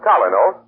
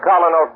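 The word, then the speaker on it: Kolynos: That's why you can compare the action of Colinos to a jeweler's polish, removing tarnish from precious silver.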